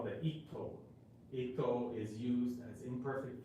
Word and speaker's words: Yiqtol: So, but just remember that what you actually, the way you pronounce the name of this form also gives you the vowel patterns. So Yiqtol has an I and an O and a schwa, right?